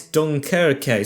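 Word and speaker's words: Dunkirk: I don't know how it's pronounced. It's Dunkerque.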